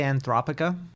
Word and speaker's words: Anthropica: I say Anthropica because the way I would say like anthropic principle.